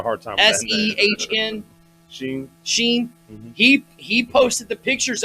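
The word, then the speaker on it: Sehn: Sheen.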